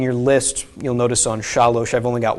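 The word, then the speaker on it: שלוש: So this is pronounced shalosh, not shalsh. Okay, if it was shalsh, there would be a shva under here. Okay, so it is shalosh for 3.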